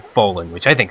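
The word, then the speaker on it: Follin: is the uh it's the best it it's pronounced Fallen but I'm trying to lean my way to say pron s it right instead of saying Fen which I think sounds better but forget it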